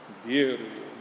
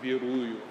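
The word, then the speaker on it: верую: Vieruju, not viruju, not viruju, but vieruju, Because sometimes you'll come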